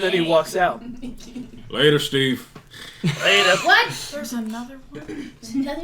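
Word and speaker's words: Schteve: is spelled uh it's it's not Steve excuse me it's Steve there's Steve Steve s-c-h-t-e-v-e Steve oh boy all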